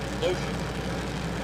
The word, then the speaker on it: Loshak: I asked her how to pronounce her last name. She's like, Lotion. I'm like, okay, H is silent, perfect.